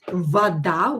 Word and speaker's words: вода: Итак, why is it вода with O and why we don't write it with A? Why do we pronounce A instead of O?